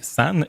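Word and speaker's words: 三: sur les chiffres, et le 3, prononcé san, est considéré comme porte-bonheur en raison de sa similitude phonétique avec le mot signifiant naissance.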